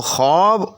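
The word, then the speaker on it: خواب: है इसी तरह से खवाब ठीक तो खब और खवाब इनमें कोई फर्क नहीं व खवाब जो हम देखते हैं उसको हम व के साथ लिखते हैं तो उस व को भी व मदुला कहते हैं नी ऐसी व जो लिखने में तो आए लेकिन पढ़ने में ना आए उसका भी तकती है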